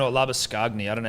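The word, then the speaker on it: Labuschagne: how you pronounce it if we just go labor shane the c or the h is silent and the g is silent the c and g you can spell it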